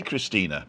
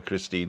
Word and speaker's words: Christine: I say Christina because she pronounces the E at the end of her name, but it actually spelt Christine, right? So if you want to call her Christine, that's also okay, innit?